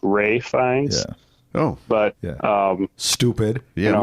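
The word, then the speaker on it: Ralph Fiennes: Is it Ralph Fines or Ray Fines? Well, it's actually it's it's spelled Ralph, but it's actually pronounced Ray Fines.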